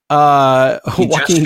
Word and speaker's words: Joaquin: So October 4th, we've got the Todd Phillips directed film Joker, starring Joaquin Phoenix, which I still like to pronounce like walking. Joaquin Phoenix.